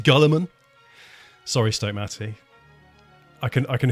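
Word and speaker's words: Guilliman: It's pronounced Gulliman.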